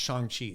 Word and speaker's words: Shang-Chi: Well, it's like it's written Shang-Chi, but when you see the movie, it's actually pronounced Shang-Chi.